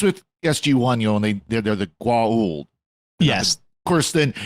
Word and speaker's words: Goa'uld: At least with SG-1, and they're the Goa'uld. Yes. Of course, then Don S. Davis couldn't pronounce it, so they came the Gould as far as he pronounced it.